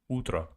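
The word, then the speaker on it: утро: Ultra it's good morning Ultra utra also o instead of O they pronounce it as a utra utra ultrautra f thank you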